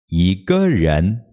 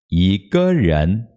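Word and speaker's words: 一个人: Por que esse número 1 aqui está em segundo tom? Originalmente ele era em primeiro, né? E aqui ele está em segundo por quê? Embora o G normalmente fique em tom neutro, originalmente ele era em quarto tom, tá? Então, antes do G, o número 1, ele muda para segundo tom.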